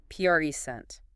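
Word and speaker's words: present: PRE sent. But if you're going to give a speech, you pre-sent your ideas. The stress jumps to the second syllable, and now it's a verb.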